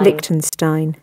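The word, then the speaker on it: Liechtenstein: So, just go for the T sound. Liken Likenstein. Likenstein. How? Where is Likenstein? Likenstein.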